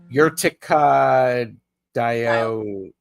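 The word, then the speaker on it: Urtica dioica: You pronounced it correctly. Did I? Urtica dioca, right?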